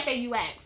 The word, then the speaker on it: faux: He was like, I want you to get fox locks. And I was like, fox locks? I was like, spell it. Use it in a sentence. It was like F-A-U-X. I was like, oh shit. This man, he meant faux locks.